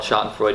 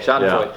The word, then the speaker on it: Schadenfreude: watching the election go down, I definitely felt Schadenfreude. Is that how you say it? Yeah. Schadenfreude? Okay, Schadenfreude.